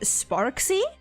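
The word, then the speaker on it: Sparxie: I'm going to assume that the X is pronounced like an X. So, it would be Sparksy.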